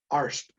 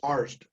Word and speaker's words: Arzt: seasoned script supervisor who, she informed me that I was saying my name wrong. And I said, what? She said, you're saying you're Dr. Arzt, but it's Arzt. And I said, however I say it, that's how it's said, because I'm the one saying it.